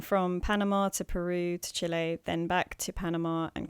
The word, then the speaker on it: Chile: to say it right I'm not going to say chili I'm gonna say Chile sorry he was working